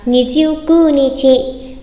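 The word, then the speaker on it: 二十九日: Nijiu kyu không là Nijiu kū nichi, Nijiu kū nichi.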